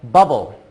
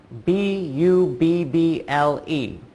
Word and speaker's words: bubble: word is an exception then there's another one I thought of bubble bu b BL e that's six letters but oh oh again only for sounds bubble the 2 b's make one sound and the e at the end is silent sometimes you're going to